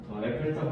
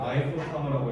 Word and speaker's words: Eiffel Tower: 에펠탑 하면 얘네가 못 알아들어요. 아이플 타워라고 해야 돼요.